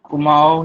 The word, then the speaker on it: Kumaon: कुमाऊं कुमाऊं Himalaya.